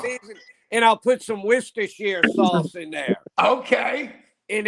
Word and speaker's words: Worcestershire: It's Worcestershire. You put it like an extra syllable in there, Worcestershire. Yeah, because of the way it's spelled. You know, I did say wash your sister.